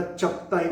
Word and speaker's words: चगताई: एका वंशाचं नाव आहे चुकताई परत ताई शब्द आला काही जण याला चकताई म्हणतात काही जण चुकताई म्हणतात ते कदाचित इंग्लिशच्या स्पेलिंगचा गोंधळ असेल तो हळूहळू ग चा